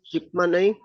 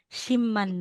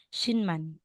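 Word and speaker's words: 십만: Tama na to Ma'am hindi yung spelling talaga is shipman ang spelling Pero kung yung bibigkasin mo siya shim man na yan Shin sh pero yung spelling niya Dapat shipman ito po talaga yung spelling correct Pero kung bibigkasin or babasahin mo na Shin man Ano to Shin man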